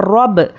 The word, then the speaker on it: رب: زیر بی، رب بی۔ اور با کیا ہے؟ حروف خلخلہ ہے، جب اس کو ہم ہجے کریں گے تو اس پر خلخلہ ہوگا لیکن روانی میں خلخلہ نہیں ہوگا، اس طرح سے۔ را با زبر رب، تو یہ خلخلہ ہے، رب۔ با زیر بی، اب